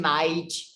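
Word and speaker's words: knight: k like team night it's not night if you know they pronounce the key i don't know yeah like a no night um otherwise knowledge nice nice okay yeah it's common to say no to you yeah yeah because k is a common word letter in portuguese right no it's not it's not why hell when we consider decay uh silent k we don't pronounce like no and now if the k is silent it's now right yeah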